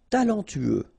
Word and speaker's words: Talentueux: Talentueux. Final X not pronounced.